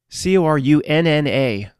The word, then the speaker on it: Corunna: Corunna, pronounced just like the same thing, Ontario.